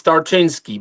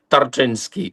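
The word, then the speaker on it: Tarczyński: Is that right, Tinski? It's not It's not easy to pronounce it. It's Tartinsky.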